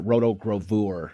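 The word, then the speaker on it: rotogravure: so Roo Roto gra you could say pronounce it Roto graur like that but um but anyways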